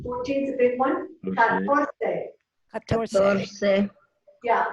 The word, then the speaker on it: catorce: Catorce. Yeah, the accent is right here on the TOR. Catorce.